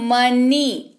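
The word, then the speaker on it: money: मनी।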